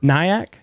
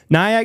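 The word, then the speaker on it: Nyack: York it was where at in New York nyak how do you spell that n y a c k okay nyak New York Helen akley uh and members of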